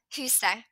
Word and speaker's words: huset: So what we don't pronounce the ending, we don't pronounce the T in huset, right?